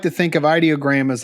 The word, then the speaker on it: Ideogram: on the book that said it's Ideogram is how you say that.